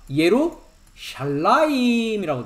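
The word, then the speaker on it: ירושלים: 예루살렘했는데 뭐라고 돼 있습니까? 예루샬라임이라고 돼 있습니다. 왜 그러냐면 쌍수이기 때문입니다.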